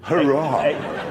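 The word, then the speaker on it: Huayra: replacement for the Zonda it's called the the hurray it's spelled h-u-a-y-r-a though you've got a choice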